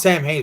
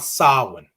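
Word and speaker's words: Samhain: goes what it's not it's not pronounced Sam hey but not sovereign which again how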